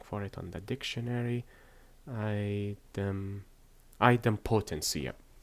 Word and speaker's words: idempotency: I keep forgetting the pronunciation for that word. Hold on, I am searching for it on the dictionary. Idempotency. Yeah. Idempotency.